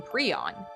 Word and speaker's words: prion: Prusiner answered a question regarding why he chose the name prion.